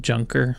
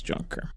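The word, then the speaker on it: Juncker: the European Commission is junker oh it's somebody's name okay oh I think it's Yonker I've heard it I haven't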